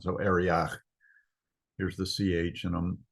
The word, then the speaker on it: Arioch: It's Arioch, which is kind of pronounced in modern Hebrew as a CH sound. So Arioch.